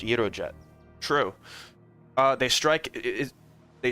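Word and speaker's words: Gyrojet: It's Greek. It's pronounced Euro Jet.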